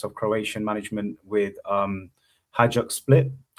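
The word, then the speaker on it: Hajduk Split: Um he came through the ranks of Croatian management with um Hajuk Split, that's how you say it.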